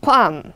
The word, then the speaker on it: qualm: 그래서 뭔가 생소한 단어가 여러분 qualm일 텐데요. L 발음 안 한다는 거 신경 쓰시고 qualm, 꺼리낌, 꺼림직함 외워두시면 되겠습니다.